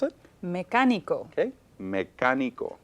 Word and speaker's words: mecánico: Any word that ends with an O should normally carry stress in the second to the last Which syllable. in this case would be the ni. On the knee, but I don't hear mecánico. Nope. So we want stress on the third to the last syllable, Correcto. and it needs an accent.